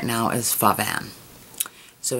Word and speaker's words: Pho Van: My favorite restaurant in town right now is Pho Van. So it's spelled P-H-O-V-A-N.